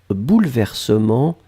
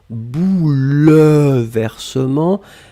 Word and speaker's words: bouleversements: pluriel bouleversements alors attention on écrit vraiment eu après le elle même si phonétiquement il n'existe pas vraiment on ne dit pas bouleversement mais on prononce bouleversement mais le 1 doit être là et bien sûr le